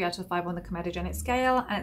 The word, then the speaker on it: comedogenic: you may have noticed that i've changed my pronunciation from comodogenic to comedogenic and the reason being that my